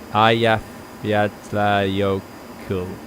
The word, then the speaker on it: Eyjafjallajökull: Let's see if Wikipedia tells me how to pronounce it. I think it does actually. Eyjafjallajökull.